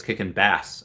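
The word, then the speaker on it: Kickin' Bass: Kickin' Bay says, by the way, it's kicking bass, as in the fish. Okay, I guess it's everyone fishes, but most say it wrong, which reminds me, an Aquaman.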